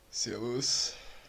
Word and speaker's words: Servus: Entonces, si nosotros quisiéramos escuchar la pronunciación que está aquí grabada en the Wiktionary, pues solo le damos aquí en play. Servus.